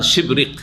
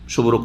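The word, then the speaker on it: شبرق: শুদ্ধ উচ্চারণ হচ্ছে তার শিবরিক। সবরুক নাই।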